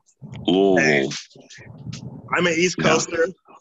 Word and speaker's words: Louisville: Though if you really wanted to, you can go to Louisville, that area, and come up from that direction. You pronounced it wrong. It's Louisville. Louisville.